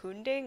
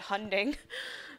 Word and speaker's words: Hunding: the big Lighthouse oh is it pronounced hunding I was pronounced it hunting oops tell me about